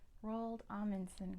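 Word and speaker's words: Roald Amundsen: this one we talked about him a lot rald alanson good job R spelled like this alanson alanson number five the country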